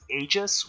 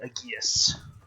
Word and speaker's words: Aegis: gonna say like if you so I'm using the pronunciation of Aegis, which is a very modern pronunciation, because if it was the traditional Greek, it would be Aegeus.